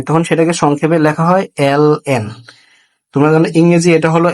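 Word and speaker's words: ln: দেখা যায় অনেকেই এটাকে লন বলে এল এন কে বলে লন আসলে এটার উচ্চারণ লন না এবং এটা যদি কেউ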